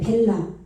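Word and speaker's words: בלע: 예, 벨라와 왕이 나오는데 벨라. 예, 아까 여기 베라왕 나왔었죠. 그거는 레시가 나왔는데 여기서는 지금 라메드가 나왔어요. 라메드. 벨라가. 요 베트 비읍 발음 나니까 여기 벨이겠죠. 벨. 그죠? 예, 그런데 여기 점 찍혔어요. 벨라.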